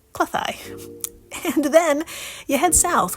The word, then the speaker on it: Cleddau: river, Western Cleddau, which is spelled Cleddau, but pronounced Cleddau.